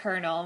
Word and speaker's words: colonel: For example, we have words like kernel, which is spelled Colonel, but the way we pronounce kernel is nothing like how it's spelled.